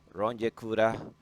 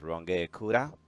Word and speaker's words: Runge-Kutta: Today, we're going to discuss a little bit uh the Runge-Kutta numerical method. Some people pronounce Runge-Kutta, others pronounce Runge-Kutta, and other pronounce Runge-Kutta.